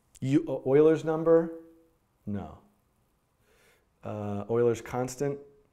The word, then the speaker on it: Euler: in JavaScript right you a lers number no Euler's constant it's pronounced Euler right and it is the natural